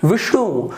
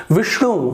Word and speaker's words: विष्णु: उसी प्रकार से देखिए विष्णु, तो यहाँ पे श है उसका उच्चारण थोड़ा सा में भारीपना, विष्णु, तो देखिए श का उच्चारण थोड़ा पीछे से आपको करना है, जीभ आपके यहाँ पर पीछे वाले भाग में मूर्धन्य में आपके टकराएंगे तो वहां पर आपका जो श उच्चारण है सही होगा। तृष्णा, तृष्णा, तृष्णा नहीं, तृष्णा,